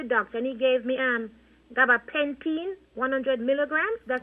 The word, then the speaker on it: gabapentin: But the thing is this, I did went to the doctor, and he gave me gabapentin, 100 milligrams. That's how you pronounce it, Gabapentin.